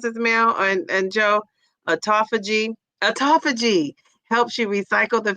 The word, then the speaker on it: autophagy: filling with water, but auto, how do you pronounce this, Mel?" And and Joe, autophagy.